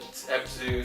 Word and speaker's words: Abzu: That Abzu, am I saying it right? Abzu.